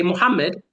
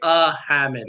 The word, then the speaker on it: Muhammad: Muhammad good and in in English we just say Muhammad We don't say ahammed, right? That's wrong in English. Amed.